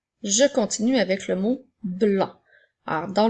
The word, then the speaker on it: blanc: Alors, dans le mot blanc, il y a le son B, le son L et le son AN. Attention de ne pas oublier la lettre C qui est une lettre muette.